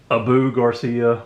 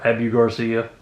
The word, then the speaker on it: Abu Garcia: But anyway, this is and depending on how you say it, I've heard it both ways, the Abu Garcia or Abu Garcia.